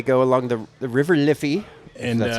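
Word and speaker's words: Liffey: walk and they go along the the river liy that's how you pronounce it and Mahoney goes chasing after a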